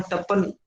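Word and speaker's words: Tappan: पहला स्टेटमेंट तप्पन का है जो क्रिटिसाइज करते हैं, तप्पन या टप्पन, टप्पन ज्यादा प्रोनाउंसिएशन सही होगा।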